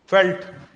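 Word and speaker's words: veld: China पैंपास in Argentina फेल्ट they are written as belt what pronounced as फेल्ट in south Africa Downs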